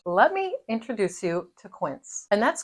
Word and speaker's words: Quince: Let me introduce you to Quint. And that's Quint. It rhymes with rinse.